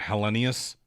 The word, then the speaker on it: Helenius: a as a city, we don't have to fight about how to say his name. I still think it's Helenius. Helenius. But there are people that hang on the Y a little longer and they naturally just make it Helenius.